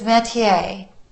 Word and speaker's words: métier: The word is métier, and it's spelled, here, I wrote it out for you.